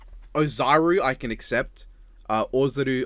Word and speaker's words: Ozaru: Ozaru, obvious, like I believe is the most accurate to how it should be pronounced.